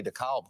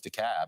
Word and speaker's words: DeKalb: no it's just me i'm no longer going to say dekalb county right i know it's dekalb now and we're all going